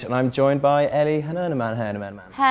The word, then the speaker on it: Hernaman: I'm and I'm joined by Ellie Hernaman.